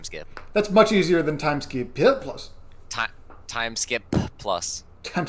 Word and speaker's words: Time SkiP+: That's much easier than time skip plus. Time time skip plus Time skip is what it is. plus. Yeah. It really let the air escape your mouth when you pronounce the last P.